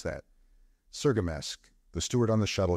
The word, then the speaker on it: Cirgamesç: At Riker's planet, they make connection with the feeder line out of Sergamesk." "Wait a minute," said Catlin. "How did you pronounce that?" "Sergamesk.